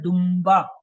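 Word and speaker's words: دنبہ: है उसके फौरन बाद दुम्बा के हिज्जे करें, दाल नून बे, लेकिन बोलते क्या है दुम्बा, मीम कहाँ से आया, असल में जो नून की आवाज जो है बे से पहले जो है मीम में बदल, इसे अरबी में कहते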